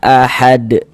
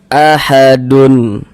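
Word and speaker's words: أَحَد: Nah, ini kalau misalkan kita berwakaf di huruf dal, kita baca ahad. Jangan dibaca ahadun.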